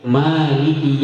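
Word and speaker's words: مالِكِ: Maliki yaumiddin. Maliki yaumiddin. Ma di situ panjang. Mad tabi'i. Maliki yaumiddin.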